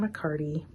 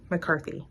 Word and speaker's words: McCarthy: so the dark goddesses Oracle deck by Katherine mccardy McCarthy excuse me okay my gosh excuse me totally butchered the name Kaitlin McCarthy my apologies um